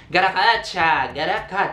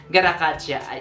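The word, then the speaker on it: Gatotkaca: Garakacha, yun yung pronunciation sa MLA. Kagayahin natin, Brad. Garakacha, ayun, kita mo yan.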